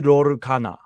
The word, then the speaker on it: Lorcana: So how do you pronounce Disney Lorcana? Disney Lorcana. Okay, I was saying Disney Disney. Lorcana.